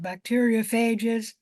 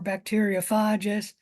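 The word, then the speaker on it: bacteriophage: infects bacteria cells and you can pronounce that bacteria fages or bacteria fages both pronunciation ations are correct and what you do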